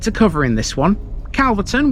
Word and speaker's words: Calverton: Calverton, which is often pronounced Carverton due to the derivation of its name, Calf Farm, lies in a small